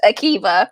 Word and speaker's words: Akiva: Akiva, right? Akiva, we determined that. His name is pronounced Akiva.